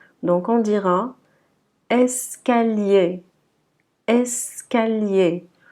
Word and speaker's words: escalier: Donc on dira escalier, escalier. Le premier E, il est prononcé E, et le dernier, ER, également, sera E, donc escalier.